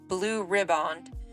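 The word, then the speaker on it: Blue Riband: voyage on May 27th 1936 and won the Blue ribbond um Steve said that's how you pronounce it that August the blue ribbond was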